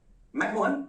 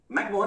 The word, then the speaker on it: McMahon: and please note the spelling, मैंने यहां पर मैं एक्चुअली गलत लिखा है, ये मराठी हिंदी वाला जो मोहन है ना वैसा नहीं है, ठीक है, इट इज MAHON, हम लोग उसको हिंदी